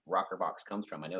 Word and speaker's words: ROKRBOX: That's where our name rokrbox comes from. I know it's spelled kind of strange, ROKRBOX, but an old